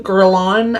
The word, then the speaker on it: Guerlain: Guerlain, I think is how you say it.